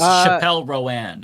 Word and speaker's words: Chappell Roan: Rowan, her name is, right? Rowan? Yes. I'm so out of touch. Yeah, it's Chappell Roan, actually.